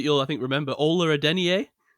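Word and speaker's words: Adeniyi: It wasn't Aden. It was Ola Adeni.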